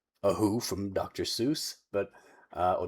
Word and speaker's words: Seuss: These are There are definitely times that uh movie Rex looks like a Who from Dr. Seuss, but uh or Dr. Seuss to pronounce it the way he actually did.